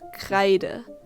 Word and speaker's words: Kreide: as i just said it's pronounced kreider the in german is spoken with an open mouth while letting your tongue vibrate in the back of the mouth not the error you